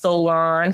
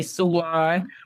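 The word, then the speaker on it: Solaan: s o l a a n and it's pronounced Solan some people say San but I think that's the fun part we're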